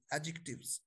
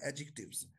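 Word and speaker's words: adjective: से बोलना आपने एडजेक्टिव एडजेक्टिव डी साइलेंट है ओकेडी को आपने प्रोनाउंस नहीं करना एडजेक्टिव ओके जी लिखना है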